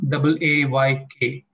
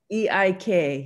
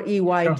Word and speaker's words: एक: LAY, ending with LAY, I thought ek would be AAYK. Is that fine? Well, I when I see two R's, I want to pronounce it ah, not a. Okay. So I'm just wondering, what do you think? Yeah, so I was thinking of EIK. Yes, EIK, yes. That's perfect.